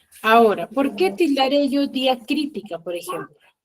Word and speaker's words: diacrítica: Ahora, ¿por qué tildaré yo diacrítica, por ejemplo? Diacrítica. Pues porque termina en cri fue la palabra más fuerte, pues por eso va la tilde en la i.